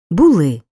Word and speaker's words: були: бути у минулому часі наголос падає на останній склад була було були Зате в майбутньому часі на